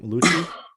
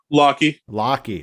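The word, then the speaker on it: Lochie: How do you pronounce Alpha Wolf's name? Lucci? Lockie.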